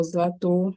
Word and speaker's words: Zlto: So this is Zato, it's spelled ZLTO.